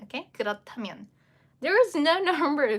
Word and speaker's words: 그렇다면: So, again, just dropping the h sound because it will only need it just for combining and then make it into one aspirated consonant in pronunciation.